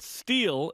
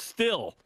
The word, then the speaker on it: steel: I would like to let announcers know that steel is not pronounced still. It has a long E in it because when there are two vowels together like EA in steel, the first has a long vowel sound.